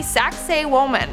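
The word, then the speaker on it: Sacsayhuamán: yet in our fourth spot we have the saxe woman and i know what it sounds like but that's how you pronounce it so just i know i know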